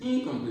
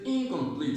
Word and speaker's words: incomplete: Incomplete. When you say incomplete, you're stressing in. Incomplete. Incomplete. Incomplete. The stress is on complete. So it is incomplete.